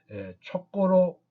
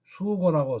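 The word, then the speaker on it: 數罟: 그래서 촘촘하다는 뜻으로 쓰일 때에는 촉고로 적고 읽어야 합니다. 그래서 수고라고 쓰면 답이 틀리게 됩니다.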